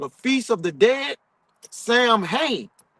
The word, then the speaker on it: Samhain: The ritual we embrace as Halloween was originally called the Feast of the Dead, Samhain, or pronounced Samhain or Samhain.